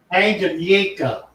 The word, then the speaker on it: Tanganyika: Tanganyika. Tanganyika. Okay, so the K is silent.